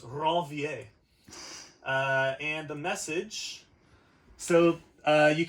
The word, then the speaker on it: Ranvier: And then in between where those sheaths don't exist, they're called nodes of Ranvier, or Ranvier if you want to use a Americanized pronunciation. But he was French, so it's Ranvier.